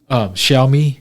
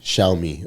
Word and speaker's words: Xiaomi: Well, this is I don't know how they pronounce that car. Xiaomi. Xiaomi.